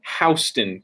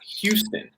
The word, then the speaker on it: Houston: Well, I live in Houston County, not Houston. It's spelled exactly the same, and people get upset if you say Houston. And it's like, well, it is spelled like house.